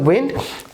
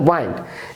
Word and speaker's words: wind: এবং খেয়াল করুন, এই প্রথম WIND এটার উচ্চারণ হচ্ছে উইন্ড, পরে WIND এটার উচ্চারণ হচ্ছে ওয়াইন্ড, এবং দুটা ভিন্ন অর্থে ব্যবহৃত হয়েছে।